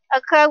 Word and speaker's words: occur: Okay, occur with the stress on the second.